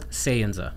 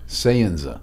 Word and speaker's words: Sayenza: your new company so it's sanza biosciences sza sanza sanza mhm okay how do you spell that s a y n Za a and